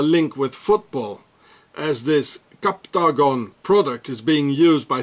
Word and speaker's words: Captagon: so here it says captagon it's like octogon captagon it's the same and every